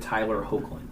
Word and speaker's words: Tyler Hoechlin: the CW, and I'm going to have you pronounce his name because I will butcher it. I've always heard it Tyler Hoechlin.